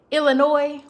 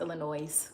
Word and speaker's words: Illinois: Illinois without the pronouncing the s. Don't be letting people tell y'all that it's pronounced Illinois cuz that's a lie.